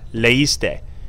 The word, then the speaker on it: leíste: Same thing with leer. If you have the EI sound together, this is pronounced something like A, right? A. We want it EI. So we have here, we have leíste, leímos, leíste. So we have to have an accent on all the I's now.